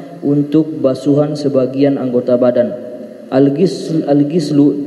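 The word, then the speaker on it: غِسل: Al-gislu dengan kasrah adalah maknanya ismun lima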